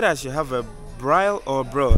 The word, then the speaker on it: braai: A braai.